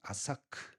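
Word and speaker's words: עשק: 그 우물을 이름을 에색, 히브리어 정확한 발음은 아사크, 다투다, 강탈하다 이런 뜻을 가지고 있습니다.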